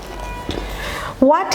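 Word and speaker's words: what: হ উচ্চারণটা সাইলেন্ট হয়ে যাচ্ছে, হয়ে যাচ্ছে।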